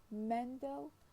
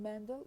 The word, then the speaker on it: Mendel: the first i mean the stress in mendel is on the first syllable while in mendelian it